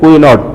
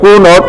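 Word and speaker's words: Cuénot: তো লুসিয়েন বা এল কুনো, যদি তুমি ফরাসি শব্দ তো প্রপার উচ্চারণ করো, আর এটাই যদি ইংরেজি মতো উচ্চারণ করো তাহলে কি হবে দেখো, যে কুইনট, তাই না? এটা আসলে কুইনট বা কুনট নয়, এটা কুনো বলতে পারি আমরা।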